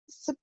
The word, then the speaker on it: Suboxone: Uh, Suboxone? Did I say it right? Yes. Okay. All right. So you've been on Suboxone for approximately 11 months then.